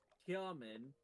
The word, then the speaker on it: Hymen: It reads like hymen.